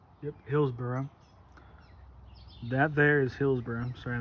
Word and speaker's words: Hillsboro: That's how you pronounce it, Hillsboro? Yep, Hillsboro.